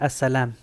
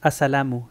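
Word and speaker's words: السلام: impuestos nosotros es como si yo te digo as salamu de decir asalam as salamu te entiendo pero no escuchamos a salamu escuchamos a salam y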